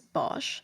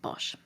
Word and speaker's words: Bosch: Bosch is actually pronounced Bos, but for the sake of familiarity, I'm just going to keep pronouncing it Bosch.